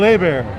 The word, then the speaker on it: Hebert: Our guest is none other than the talented Kyle Hebert. Hey, dude, you pronounced my last name right.